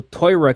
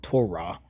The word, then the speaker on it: Torah: So, Torah keeper and it's pronounced tora, not Torah. Not sure where they got the Torah from.